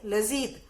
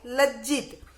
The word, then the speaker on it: लज्जित: उसके बाद है लजीत। क्या है? लजीत। इसको उच्चारण होगा लजीत, लेकिन सही शब्द कौन सा है? लज्जित, यानी कि शर्म, हमें